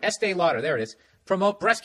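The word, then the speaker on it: Estée Lauder: pick estee lauder i just said it right estee lauder there it is promote breast cancer awareness by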